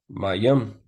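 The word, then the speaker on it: מים: how this really not it's pronounced my yum which means water right see that it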